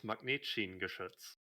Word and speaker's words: Magnetschienengeschütz: In German, it's Magnetschienengeschütz, but you can call them German railgun team.